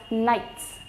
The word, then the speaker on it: Knights: forth things with them they were known as Knights K will be written but not going to be pronounced because it has